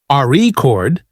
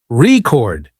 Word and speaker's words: record: For example, in the word record, if you stress the first syllable, RE chord, it's a noun, but if you stress the second syllable, record, it's a verb practicing stress, And intonation makes you sound more natural.